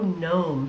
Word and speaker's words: gnome: Yeah, so gnome, even though it just sounds like it starts with N, there's actually a G there and it's silent.